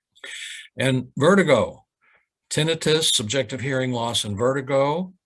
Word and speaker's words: tinnitus: symptom complex exclusively includes tinnitus. By the way, the proper pronunciation is tinnitus, not tinnitus.